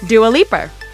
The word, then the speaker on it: Dua Lipa: was born with and it's pronounced do a leaper she didn't love it